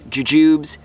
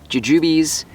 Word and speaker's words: jujube: here is jujubes so there's some debate as far as how you pronounce this i'm gonna call them jujubes you can call them jujubes jujubes jujubes either way we're talking about the same thing now we have four